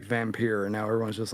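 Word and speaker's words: Vampyr: you pronounce it um v-a-m-p-y-r is how the games here it's vampir get it right God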